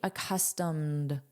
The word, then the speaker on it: accustomed: Notice the pronunciation, this is a soft D, accustomed, accustomed.